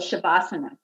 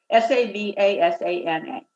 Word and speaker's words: Savasana: But so at the very end of a yoga practice, there's this rest period called Shavasana, and it's with an S. It's pronounced the sh, but it's Savasana.